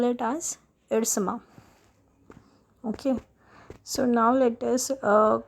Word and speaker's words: Ersama: Class, there is one thing that the place name Irsama is pronounced in various manner. Like it can be Irasama, it can be Irsama, but according to our